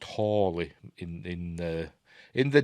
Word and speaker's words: Halley: way to Halley's Comet they call it Haley's Comet in this but it's pronounced Howley uh out of Stephen Fry once said um I think it would actually be pronounced wholly in in uh in